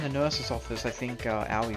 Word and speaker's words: Aoi: Because he said in chat like O-W-I-E, like Aoi, I hurt myself. And I'm like, bro, that's literally how you pronounce it. Shelby told me, because it's like Yowie. Yowie, Aoi.